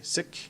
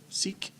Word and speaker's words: Sikh: Year celebration for the Sikh community and I learned how to say sick instead of Sikh which I've been mispronouncing